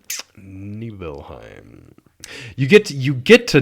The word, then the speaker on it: Nibelheim: get to nibble neheim neheim I believe that pronounced Nibelheim you get you get to nihem and it's